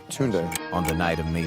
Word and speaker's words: Tunde: Tunde. Tunde.